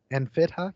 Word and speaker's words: Enfidha: This is pronounced Enfidha.